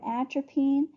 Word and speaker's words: atropine: maximum of three so a good way to remember atropine is it it rhymes with trampoline and it makes your